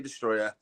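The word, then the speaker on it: Destoroyah: i'll just say it i know the o is in there you gotta pronounce the other oh but i just say destroyer um and then my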